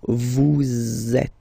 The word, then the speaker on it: vous êtes: So in that case, vous is ending with S, and then you tend to make a little link between them. So vous êtes. Z, it goes like that.